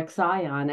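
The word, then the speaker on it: Ixion: with him so uh iion came up or exion as Heather Ensworth likes to say I like that pronunciation so up to Olympus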